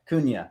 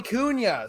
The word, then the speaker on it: Cunha: it's yes yeah so it's uh silent i always tell people silent h out of y kunya it's portuguese man oh okay sorry portuguese all right joey cunha so appreciate you stopping